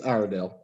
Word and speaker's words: Iredell: It's Iredell.